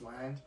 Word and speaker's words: Ngoan: And then when I started learning English, the English teachers couldn't pronounce Wang. It's from Vietnam, so they couldn't. They just said Juan.